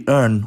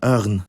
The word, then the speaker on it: örn: An example of this would be örn, or in the south, örn.